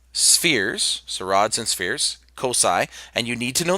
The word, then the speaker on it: cocci: a ball and we say that those are Cosi sometimes you'll hear some people pronounce it cockeye it doesn't sound quite a silicon but spherical